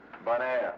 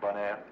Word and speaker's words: Bonaire: Bonaire, you know, bon, good, air, Bonaire.